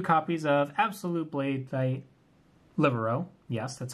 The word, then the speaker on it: Libero: So we got 2 copies of Absolute Blade Knight Libero.